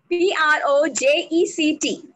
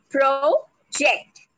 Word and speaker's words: project: P-R-O-J-E-C-T. Again, Nisha, next slide. We break this into two syllables, project. Now, if I put the stress on the last syllable, project, it means to show.